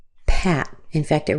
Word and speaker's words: Pat: And then finally, we have P A T. And just like these other words that have an A, we're going to use an A. So this name is Pat. Pat.